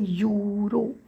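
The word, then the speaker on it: Euro: silent मध्ये जातो बघा इ होत नाही पण युरो यु आणि रो चा होतो पण स्पेलिंग आहे यु युरो इ यु आर ओ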